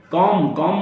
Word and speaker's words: comb: थम, कॉम माने कंघा या कंघा करना, बाल खींचना। कॉम, नॉट कॉम्ब, COMB होता है, लेकिन बी नहीं बोला जाता, कॉम।